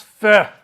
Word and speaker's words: feu: Pronounce feu. That's how the French say it.